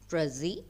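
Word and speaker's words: précis: hope you could understand przi is a word French word so it is pronounced without pronouncing the last consonant letter s so the pronunciation I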